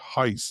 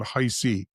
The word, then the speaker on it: Heiss: It's Coach Heiss, just want to make sure everyone's set on that.